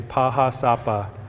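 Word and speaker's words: Pahá Sápa: In our language, we say Paha Sapa, or the Black Hills, and this is where the creation story of our people come from.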